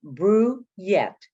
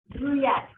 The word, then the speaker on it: Brouillette: It's pronounced Brouillette. Brouillette. Okay. Think want you to know this. Yes. Think of beer and yet to come.